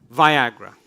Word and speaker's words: Viagra: Viagra. Le Viagra. It rhymes with Niagara.